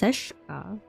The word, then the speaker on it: Seshka: It's pronounced Seshka. This is a sh sound.